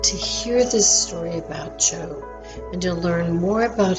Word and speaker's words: Job: Now, Job is spelled the same way as if we spelled job. So J-O-B and J-O-B. So his name is pronounced Job.